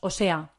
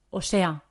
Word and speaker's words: o sea: o sea separada la la muletilla suena como una palabra como lo decimos muy rápido decimos o sea o sea repite conmigo o sea